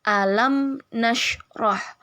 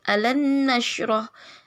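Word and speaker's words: أَلَمْ نَشْرَحْ: Jadi alam nashrah. Alam nashrah, bukan alan nashrah, tapi alam nashrah ya.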